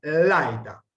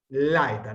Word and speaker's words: laeta: Laeta, laeta, no podemos acentuar la eta, no, laeta, porque si no rompemos el diptongo.